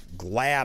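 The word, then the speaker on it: Glaude: Now, MSNBC's um Glad I believe is how you pronounce it.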